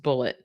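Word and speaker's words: Bulleit: She says Wendy drove many miles out of her way to purchase Bullet brand whiskey, pronounced Bullet, from a liquor store about a block from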